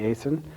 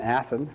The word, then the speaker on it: Athon: statesman journal and annie aison and i just mispronounced it it should have been athen from the statesman journal